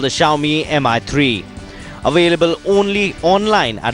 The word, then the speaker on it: Xiaomi: friended on Twitter and it's pronounced like house xiaomi it's pronounced as xiaomi written with an X they